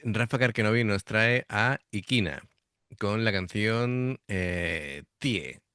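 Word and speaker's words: IKINÄ: Bueno, la lo que es la banda se pronuncia Iquinae, ¿vale?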